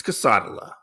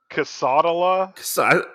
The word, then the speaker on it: quesadilla: so I say quesadilla instead of quesadilla. It's quesadilla. Casadala, I mispronounce it on purpose, okay?